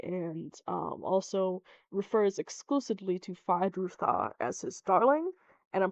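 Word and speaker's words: Feyd-Rautha: This is the introduction of one of my I hate to admit this, but besides Aaliyah, Fidruthar is Rutha, Fidrutha. Either way, I can't help but pronounce the R.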